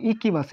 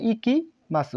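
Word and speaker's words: 行きます: তাহলে এই কাজির নাম ইকিমাসু এই কাজির নাম ইকিমাসু একা উচ্চারণ কিন্তু হবে কিমাসু সরি কি মাসু হ্যা কি মাসু আর এই উচ্চারণ হবে ইকি মাসু তাহলে আমরা উচ্চারণটা লিখে দেই ইকি মা বা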